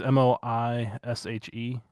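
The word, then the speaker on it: Moishe: wild thing okay uh moish i think i'm pronouncing it's m-o-i-s-h-e i think that's moish uh is the wild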